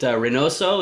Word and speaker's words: Reinoso: Is it Reinoso? Is that how you pronounce that?